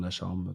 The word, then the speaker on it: Lacharme: Alors le nom de mon podcast, c'est, mon prénom et mon nom, donc c'est Alexandre Lacharme, ça s'écrit Lacharme, comme ça se Ok.